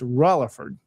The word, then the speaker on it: Rutherford: If you're familiar with the name, Rutherford is how it's spelled. Yes. But if you're in Gibson County, you don't say it like that. It's got an L in it. It's Rutherford.